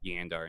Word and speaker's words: Jandar: age old debate about yandar and jandar comes from that video because I did the research on Old Norse and I found out they pronounced her J's with a Y cre the debate for